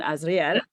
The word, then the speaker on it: Azriel: So, Yulia Hunita, is that how you pronounce it? Yes. I want to make sure. And then Azriel.